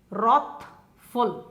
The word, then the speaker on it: wrathful: wrathful W is silent rock full are ATH ful it would be the correct sound but you've got a W in front of it which is silent so rocked full rock